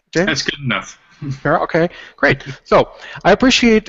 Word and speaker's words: Perro: James, please feel free to correct me if I just for some reason did I pronounce it correctly, James? That's good enough. Perro, okay, great.